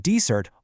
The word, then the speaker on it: dessert: In dessert, all the energy is on the first syllable. In dessert, it's on the second.